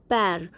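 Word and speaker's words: pair: पैर पैर मतलब पेयर पेयर हम इसे बोलते हैं लेकिन इसकी करेक्ट प्रोनाउंसिएशन होती है पैर।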